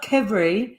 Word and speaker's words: Qvevri: Crevery. Well, it's kind of pronounced qvevri, but it's spelled Qvevri.